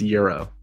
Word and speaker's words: gyro: Do you say gyro or gyro? It's euro. Technically, it's a euro, but like I'll say euro.